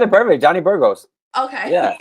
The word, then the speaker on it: Johnny Burgos: No, you said it perfect, Johnny Burgos. Okay. Yeah, in English it's just Johnny Burgos.